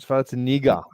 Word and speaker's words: Schwarzenegger: That's not how he pronounces his name. He pronounces it Arnold Schwarzenegger.